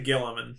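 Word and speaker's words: Guilliman: who has said, "Why do people shift Gwilliman and how do you say his name? Gwilliman? I say Gilliman.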